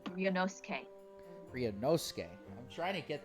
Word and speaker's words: Ryunosuke: Ryo Sake, I'll see you in the courtroom. Yes. Thanks, Kazuma. Oh. Okay, my Japanese pronunciation is saying that his name is actually Ryunosuke.